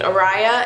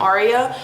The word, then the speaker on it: Araya: But imagine my kid being named Araya and then teachers calling them Aria, or little kids at school calling them Aria. Like I just couldn't deal with that. That name was off the table. But if there was like a way to spell it where people would know it was Araya, I would like that.